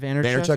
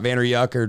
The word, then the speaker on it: Vaynerchuk: Vaynerchuk. It's not Vayner Yucker or something like that.